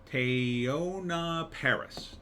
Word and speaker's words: Teyonah Parris: Teyonah Parris.